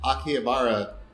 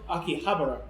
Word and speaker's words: Akihabara: Welcome to this live episode of the OSMcast with Akihabara Renditions. Podcast Super Friends. Super Friends. It start off with Podcast Super Friends. That's right. Akihabara, not Akihabara. Akihabara.